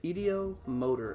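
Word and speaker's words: ideomotor: there's a theory and i've been pronouncing it wrong for the longest time but i know what i'm trying to talk about it's called the etiometer medio motor effect there it is the idio motor effect and it's where multiple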